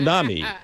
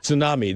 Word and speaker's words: tsunami: tsunami. Yeah. Tsunami. That's the way it's supposed Let to be. me hear you pronounced. say it. Say it again. Tsunami. Tsunami. Yeah, there's a T Tsunami. there.